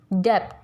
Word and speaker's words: debt: Letter B, जब भी letter B T से पहले आएगा तो silent होगा. As it is in debt, DEBT, debt.